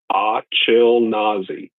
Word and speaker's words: Achilnazi: my new name is Achilnazi. And I'm going to ask everybody to pronounce it correctly. Achilnazi. It's like Ashkenazi, but chill.